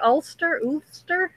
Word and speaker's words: Ulster: My husband's family's from Ulster. Is that how you say it? Ulster.